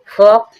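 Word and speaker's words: folk: हथेली काम मींस शांत फोक फोक मींस लोग फोक फोक मींस लोग एल साइलेंट है चौक चोक मींस खड़ियां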